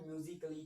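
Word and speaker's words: musically: यदि ए के बाद डबल एल व आए। ठीक है? यदि एल ए मतलब ए के बाद डबल एल वाई आए तो ए साइलेंट होता है हमारा।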